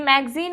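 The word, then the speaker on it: magazine: मैगजीन की spelling भी आपसे स्पेलिंग करेक्शन में पूछ ली जाती है, तो MAGAZIN होता है, ठीक है, क्योंकि मैगजीन बोलते हैं तो ये जो ए है वो साइलेंट होता है, तो स्पेलिंग गलत होने के चांसेस हो जाते हैं।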